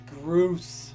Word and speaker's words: Groose: You're saying it wrong. It's Groose.